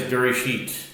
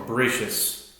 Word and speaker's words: Bereshit: Parsha of the week is Bereshit, or Bereshis, depending on your pronunciation.